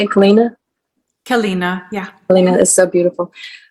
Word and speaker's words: Keleena: Keleena, yeah.